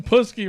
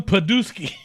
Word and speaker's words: Putski: commentary he could never say Ivan putski right he always called him padooki look at Ivan put